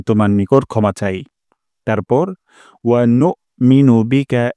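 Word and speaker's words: نؤمن: তারপর ওয়ানুমিনু বিকা, এখানে একটা ভুল হতে পারে। ওয়ানুমিনু বিকা, ওয়ানু এখানে হামজা উচ্চারণ হয় না অনেকেরই, তাই এখানে একটা শক্ত স্ট্রং সাউন্ড করব।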